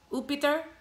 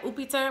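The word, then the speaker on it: Iuppiter: in Latin was called, I don't want to pronounce it wrong, but I think it was Upiter. Like, yeah, Upiter, but it's spelled I-U-P-P-I-T-E-R or I-U-P-I-T-E-R.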